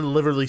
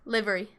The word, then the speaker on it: livery: then in the Liverly stable, they also have Livery. Sorry. livery? Yeah, livery? livery. Livery? Yeah. Like delivery, but livery?